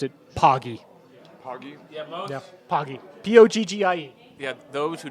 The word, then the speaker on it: Poggie: and he'll tell you it's the pogi is a pogy I don't know I'm not a fan of that you can't just come over with your own pronunciations of words sorry charde oh or say it over here so you think Pokey should change her name it's poggy yeah okay you heard